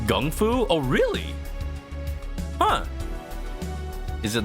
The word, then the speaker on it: kung fu: cool there blade yeah an example of mispronunciation from Chinese is actually that kung fu is actually pronounced Gung FU oh really huh is